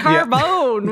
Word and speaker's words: carbone: have been pronounced i'm sure that's how they pronounce it yeah carbon with the emphasis on the bone uh which